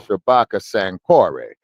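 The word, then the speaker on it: Shabaka Sankore: The co and the good part about it is they pronounce my name uh properly which is Shabbaka Sanori. Yes. Say the last name is after the University of San you know in ancient Mali.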